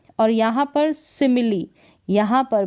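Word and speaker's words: simile: लेकिन कुछ गिने चुने शब्दों में कुछ स्पेलिंग्स है वहाँ पर ई का उच्चारण ई होता है। जैसे कि यहाँ पर देखें रेसिपी, क्या है, रेसिपी, इसका उच्चारण यहाँ पर है। तो यहाँ पर रेसिपी में ई का उच्चारण हो रहा है।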